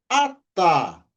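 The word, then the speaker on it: אתה: a nós temos a letra Tav com som de T, também acompanhado pela vogal a e o re, que não tem som no final da palavra. A, sílaba tônica é a última sílaba. Ata.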